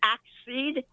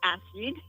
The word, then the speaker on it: exceed: One thing I I hope is that you pronounce both the first C in the double C like in exceed is not accede. Of course it's exceed. Well, I mean the first the first C in the double C is pronounced as a hard K.